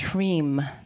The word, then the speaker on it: Hrim: And the hreem, if you break hreem down, you have ha, so that's prana and breath. And then you have the r, so that's a fire syllable. So that's why a lot of them are, shreem, cream, hreem, so that the r adds the fire energy there.